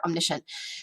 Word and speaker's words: omniscient: within a word stuff omni means all so like an omnivore eats all the things right shent means seeing so omni omni and shenter on this omniscience that's how you say it all together omniscient this is gonna